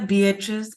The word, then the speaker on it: Beatriz: Beatriz R. I pronounced that right?